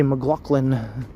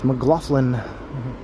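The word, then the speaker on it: McLaughlin: I used to say McGlaughlin and then I looked at how it was spelled and I was like, "Oh, I've been saying it wrong all the time." I think it's Mlofflin.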